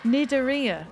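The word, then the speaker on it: Cnidaria: That's how it's spelled, but I don't know how to pronounce it. The moon jellyfish is Aurelia orisha. Is that how I say that? Nidaria.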